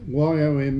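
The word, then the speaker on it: יום: believe is pronounced yon y o m e it's y o um WM is the Hebrew spelling but the pronunciation is Yom so we'll try and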